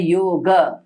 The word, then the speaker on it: योग: ग एंड अ हां तो सही जो उच्चारण है इसका होता है योग योग हां योग बोलेंगे तो गकार में एंड हो जाएगा वो भी सही नहीं है योगा बोलेंगे तो आकार